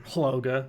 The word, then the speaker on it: HLOGA: I want to say it like an acronym. HLOGA, Honest Leadership and Open Government Act is what it was called.